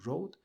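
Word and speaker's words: Rode: se llaman los Road Wireless Go 2 estos se escriben r o d e es la marca Road y luego está el nombre del micrófono en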